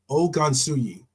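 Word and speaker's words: Ogunsuyi: um and his name is Trey Ang gansui o gansui it's spelled o g u n Su u y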